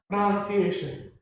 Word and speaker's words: pronunciation: is noun but then when this word comes together we can only say it as pronunciation pronunciation it's pronunciation this o becomes silent just so becomes silent